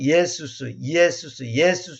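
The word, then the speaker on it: Ἰησοῦς: 예수수가 E, 에, 수 이렇게 하니까 조금 아무래도 이제 조금 그 말이 길어지니까 이제 발음상 우리가 빨리 하면 예수스 이렇게 된단 말이에요.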